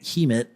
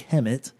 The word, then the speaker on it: Hemet: Which we were calling it Hemet online. So by the time we got there and the people at the bar, the first thing they did was call us out for calling their town name wrong. So it's actually Hemet.